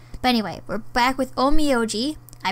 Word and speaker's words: Onmyoji: couldn't use it but anyway we're back with oh me oh gee I pronounced it right this time and now we're